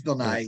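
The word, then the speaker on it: Bill Nighy: this name bill nye is it just bill nye or naive bill nye it's bill nye yeah he's um yeah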